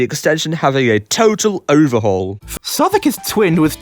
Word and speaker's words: Southwark: It's pronounced Southwark.